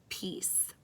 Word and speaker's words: piece: on this side and this word actually has a tricky silent e at the end of it and a see that makes the soft C sound which sounds like an S now what if I